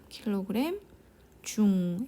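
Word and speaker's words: kgf: 이거는 우리가 이제 중이라고 읽어요. 중. 자, 50kg 중, 이렇게 F를 붙여야 됩니다.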